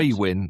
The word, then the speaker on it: Aiwyn: Aiwyn? It's Aiwyn Tax? Aiwyn, apparently, is the pronunciation, but it's spelt AIWYN.